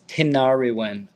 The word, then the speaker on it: Tinariwen: no, it's Tinariwen. I can spell it out for you, Tenari Winds.